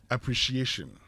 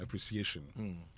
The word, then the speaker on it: appreciation: Appreciation. I beg you. Just as you say appreciate, add the shin to it. It becomes appreciation.